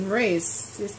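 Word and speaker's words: Morais: So Saturday, I still managed to read one book, which was The 100-Foot Journey by Richard C. Moraes.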